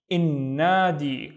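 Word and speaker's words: النادي: I don't pronounce the il, right? I replace the il sound with in. So this would be in, and then nadi, innadi, which means the gem, innadi.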